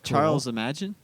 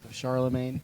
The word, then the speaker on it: Charlemagne: But, um I'm related to Charlemagne. Another I'm related to William the Conqueror. Oh, it's Charles Imagine?